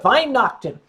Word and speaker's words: Weihnachten: You say Fröhliche Weihnachten. And that's why I like it. It's called Weihnacht. Wine night.